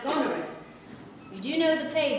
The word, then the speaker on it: Goneril: The point is that Mary's character is pronounced Goneril.